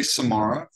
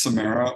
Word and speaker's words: Samara: So you could say Samara because the spelling of Samara looks similar to the spelling for the Sahara Desert. Or you can say it's Samara, which is the way that Dr.